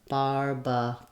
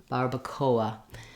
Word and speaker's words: Barbacoa: is a diphthong so when we say KOA KOA we end up with kind of a gliding wa sound and another schwa at the end so in English we would have a bar Barbacoa Barbacoa in Spanish we're